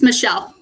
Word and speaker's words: Michelle: anybody's names but uh Michael betini or Mel betini it's Michelle thank you hi my